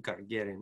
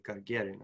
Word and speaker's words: Gagarin: I don't know if I'm saying that correctly, Gagarin. I've been corrected by that by some of my Russian students. You say it like, do you know how to say it? I just say Gagarin, Yuri Gagarin. Yeah. And I'm sure I'm saying it like an American, not with the proper pronunciation, Gagarin, but that's Gagarin.